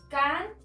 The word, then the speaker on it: cántaselo: Encontramos la sílaba tónica en ri. Por lo tanto, se encuentra antes de la antepenúltima sílaba.